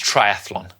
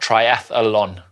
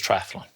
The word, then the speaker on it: triathlon: It's triathlon. There is no second A in the word triathlon. It is not triathlon, it is triathlon.